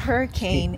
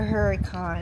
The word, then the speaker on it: Hurricane: how did the lady say we have to pronounce it it's not hurricane it's a Huracan Huracan yeah so I guess like a cuz